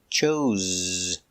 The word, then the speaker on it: chose: Pronunciation. Use a zebra. Z chose z.